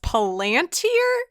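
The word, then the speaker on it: palantír: it and then also specifically talking about the palantir episode i've since learned after watching fellowship of the ring that it's pronounced palantir and either thank you for just not bringing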